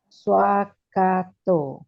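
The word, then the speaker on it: svākkhāto: V is pronounced as W. Swakato.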